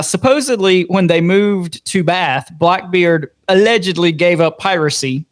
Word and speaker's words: Bath: in Orman's hometown of Bath, North Carolina. And that's spelled B A T H, like taking a bath.